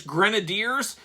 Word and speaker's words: grenadiers: a kid once again nobody ever pronounced these things you just read it and it was always iron grenades to me but apparently it's grenadiers graders grenadiers what did